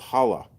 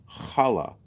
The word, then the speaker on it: challah: Shibata bread it's called challah ch a ll aah it's actually pronounced challah you got to get the hook the phlegm challah easy it's funny when